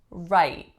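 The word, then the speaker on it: Wright: we have right right only one syllable again it has an entirely silent W at the beginning the vowel is one of those really low frequency vowels aye-aye and the way I'm saying it it has an unreleased T right right next one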